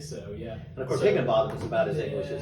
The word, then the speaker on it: Higginbotham: Higginbotham, specifically Higginbotham. Now, did I pronounce that Higginbotham? Did I get that correct? You got it right. Not two T's, T-H-A-M, Higginbotham. Botham. You got it.